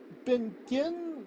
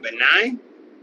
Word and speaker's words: benign: Um, she has um she had something uh she's had surgery on something in her back called Benin Mass. I could be totally mispronouncing that. Uh what? Benign benign mask.